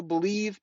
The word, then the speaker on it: BLEAV: It's on the Believe Podcasting Network. It's with Lions legendary safety, Benny Blades. You got to check it out. It's called BLEAV. They pronounce that Believe in Lions on the Believe Podcasting Network.